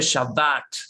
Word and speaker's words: Shabbat: sabe menos y diciéndole, se dice Shabbat con una sola vez sin TH, se dice Shabbatón, no se dice Jesús, se dice Yeshua, se dice Yehoshua.